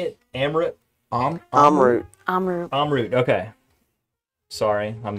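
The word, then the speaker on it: Amrut: Amarut.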